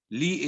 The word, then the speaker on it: Lea: Lee is spelled with L-E-A.